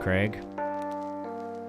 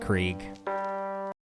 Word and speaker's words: Krieg: Oh, pronounced Craig. Not Krieg.